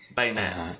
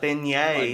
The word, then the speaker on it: beignet: things correctly and so I called these desserts bayet I said oh have you had their bayet okay I can see that I mean I have one to go ahead and go ahead and finish but I have one for you too bay you mispronounce something you know like the Revolutionary War Bay Nets I don't get it Revolutionary War a bayet is a gun I don't know that but beignet is actually what it's called it it